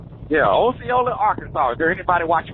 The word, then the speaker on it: Osceola: I call it Osceola. That's what it looks like. Osceola.